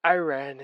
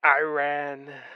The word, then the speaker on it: Iran: It's quite clearly Iran. Yes. Yeah Yes, it is Iran, not Iran. Iran. I know you Americans say Iran, but it's Iran.